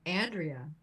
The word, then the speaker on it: Andrea: It's Andrea.